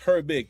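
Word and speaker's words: Herbig: it very interesting um her big okay it's pronounced her big thanks thanks Eric appreciate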